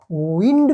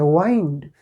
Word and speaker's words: wind: विंड means हवा, बहती हवा को क्या कहते हैं? विंड। और अगर इसी स्पेलिंग का हम दूसरा प्रोनाउंसिएशन देखें, वाइंड, वाइंड मीन्स मोड़ना।